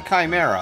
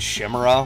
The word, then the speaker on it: chimera: me because I um I pronounced it Shima when it was supposed to be Chimera and that's the only